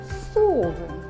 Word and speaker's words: совы: Совы. Рядом напишем слово сова. Сова. Поставим ударение. Сова. Давайте произнесем первый гласный звук в слове совы. Совы. Гласный звук О. Сова. Гласный звук А.